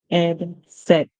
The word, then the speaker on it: said: pronunciation for here the instead of the AI saying a it actually says a so we here said so always Rec for